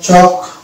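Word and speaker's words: chalk: science work হয়ে গেল অনুরূপভাবে এটা হয়ে যাবে চক সি এইচ এ চক আর এল কে চক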